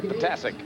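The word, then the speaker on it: Ptasek: Talked to Patic before the game and I said, "So, how do you say it?" He says, "Pronounce them all." And it's spelled P T A S E K. Patic.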